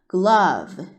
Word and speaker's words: glove: 그래서 붙여주면 glove 라고 읽어주고 의미는 장갑이라는 뜻이에요.